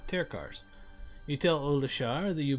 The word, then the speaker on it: Tirkar's Travelers: So that's how you say it, Terkars.